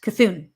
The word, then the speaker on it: Cthulhu: Okay, Daryl says Cthulhu is pronounced Cthulhu.